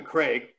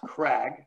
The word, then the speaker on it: Craig: little try here elijah craig which i always pronounce crag because i don't know